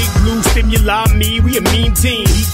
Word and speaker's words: Stimuli: like the sun turn stimuli one word three syllables keeps drilling you with